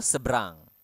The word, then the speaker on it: seberang: of make it quicker seberang So this is what you say en seberang so we don't really pronounce the extra e or e Oke but